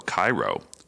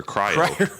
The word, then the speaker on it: Cryo: So this beer has been massively dry hopped with Citra and Amarillo Cairo. Or cryo.